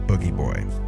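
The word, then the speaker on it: Booji Boy: is written like bougie boy but it's actually pronounced boogie boy mark would play this character by putting on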